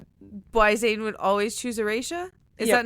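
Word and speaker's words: Aretia: Why Zayden would always choose Erasha? Is that not how you say that? No, it is. It's just... Did I pronounce it wrong?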